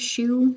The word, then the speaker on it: choux: create that dough and it's pronounced shoe like shoe on your foot it's kind of interesting